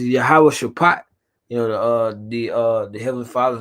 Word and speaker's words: Yahawashi: It's Yahawashi. Yeah. Yahawashi. They say the Greek, but we gotta say the Hebrew.